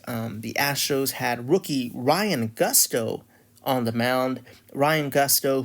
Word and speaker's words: Gusto: Uh you know, I I I am not a native Spanish speaker. I don't I can't even rely on that as a uh as an excuse for why I pronounce it Ryan Gusto. it. But it's it's Ryan Gusto to my knowledge.